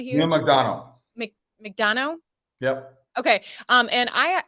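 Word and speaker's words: Neal McDonough: to have Neil MC you say his name McDonough here McDonald make Dano yep okay um and I had seen an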